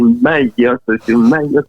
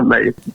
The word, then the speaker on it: Mayotte: Et je disais tout le temps, c'est Mayotte, pas Mayotte.